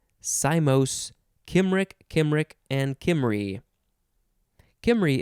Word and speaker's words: Cymry: Kimry is very close to Camry, the car.